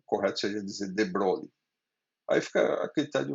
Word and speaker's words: de Broglie: Por outro lado, a gente viu na aula passada, a partir da ideia de de Broglie, de Broglie, deixa eu comentar aqui sobre isso.